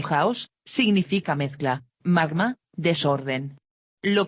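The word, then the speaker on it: χάος: ejemplo la de platón la palabra chaos pronúnciese house significa mezcla magma desorden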